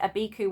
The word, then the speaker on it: Abiku: Yeah, I was saying it wrong. I swapped the U and the I around because I don't know why. This is the Abiku, which are kind of